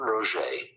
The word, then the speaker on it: Roget: Jean Roget.